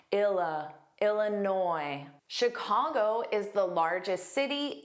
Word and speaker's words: Illinois: Illinois. Make sure you don't pronounce that s on the end. It is entirely silent. It is never pronounced. Illinois. But noi is the stress sound. Ila. Illinois.